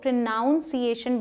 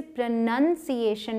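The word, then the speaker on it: pronunciation: इसे बहुत सारे लोग प्रोनाउंसिएशन बोलते हैं क्योंकि हम प्रोनाउंस करना बोलते हैं, लेकिन ध्यान दें यहाँ पर PRONOUN होता है, ठीक है, इसलिए हम इसे प्रोनाउंस करना बोलते हैं और ये स्पेलिंग मिसप्रोनाउंस्ड है, ठीक है। लेकिन यहाँ पे कोई ओ नहीं है, NUN है, इसलिए हम इसे प्रोनंसिएशन बोलते हैं।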